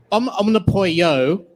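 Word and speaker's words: Omnipollo: Did you say Omnipoyo? I've already forgotten, Bradley. Omnipoyo. Yeah, that was 3. Oh. An Omnipolo for everybody else, I guess. Okay. Does anybody have a different pronunciation thinking about it? No, that would be ridiculous.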